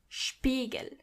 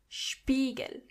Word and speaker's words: Spiegel: When you see an S before a P, you have to automatically pronounce the S as sh.